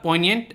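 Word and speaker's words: poignant: पहला यहाँ पर पॉइनिएंट, इसमें जी साइलेंट रहेगा।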